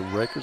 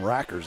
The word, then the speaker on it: Rakers: louisiana with the rebound want to apologize to rakers i called him rockers the last time we had him well winfield has a rackers and montgomery has a rakers and it's spelled the same way that it is that's